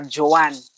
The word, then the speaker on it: Joan: call you Joan. What do you call yourself? Actually, that's the right pronunciation for the name, Joan.